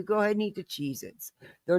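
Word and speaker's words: Cheez-It: You go ahead and eat the Cheezits. They're not cheesits. They're Cheezits. Thank you. I love you. I'm almost done. Yes, you can watch TV. One hour. All right. Love you. They're Cheezits, not Chzets.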